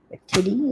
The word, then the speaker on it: Nefertiti: Nefertiti is the proper pronunciation.